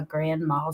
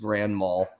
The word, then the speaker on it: grand mal: Heather Joy put a grand mal seizures is that how you say it yeah grandma and and it's actually there's no D on it it's just Grand Mall and they've actually changed